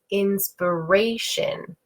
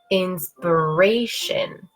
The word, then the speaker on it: inspiration: with four syllables, and this is inspiration, inspiration. And we can hear inspiration. We can hear, again, the up, down, okay?